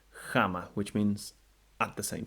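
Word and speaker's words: ἅμα: Words that could serve as an example could be, for instance, jama for the rough breathing, jama, which means at the same time, something done right at the same time as some other action.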